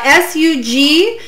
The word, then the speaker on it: sugilite: well so sugelite uh s-u-g-i-l-i-t-e sugilite i believe is the pronunciation and the spelling for that um so again many